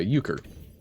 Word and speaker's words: Euchre: Oh, I see the EU, and I assume it's like Euler, right? But okay, Euchre.